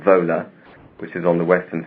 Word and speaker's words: Wola: W-O-L-A. It's Wola, as we would pronounce it. Yeah. But it's Wola, it's pronounced in Poland.